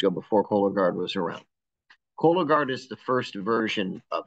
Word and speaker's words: Cologuard: Another question we received is thoughts on non-invasive options for average risk patients, like Cologuard, which I may have mispronounced it. No, you pronounce Cologuard.